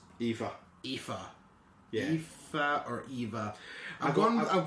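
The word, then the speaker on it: Aoife: l a o f i e but it's pronounced EA EA EA or Eva I've I've G with EA I got an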